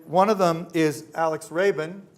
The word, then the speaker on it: Rabin: Now, we also have two artists on the panel, and one of them is Alex Rabin. Is that pronounced right? Rabin, okay. Close.